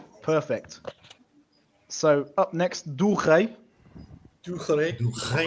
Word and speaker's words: rei: So, up next, do rei.